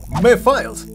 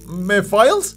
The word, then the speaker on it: Mephiles: Y siempre lo pronuncio mal. Creo que se llama... Mephiles. ¿Es así? ¿Mephiles?